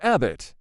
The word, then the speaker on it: abit: fascinated by praying mantises this hieroglyph means mantis pronounced Abbott later generations learned praying